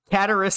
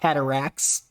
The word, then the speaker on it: Cataris: Cataris is pretty clearly not Cataracts.